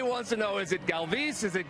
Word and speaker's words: Galvis: home because everybody wants to know is it Galvis is it Galvis how how are you pronouncing it's Galvis Galvis I got it right galve well there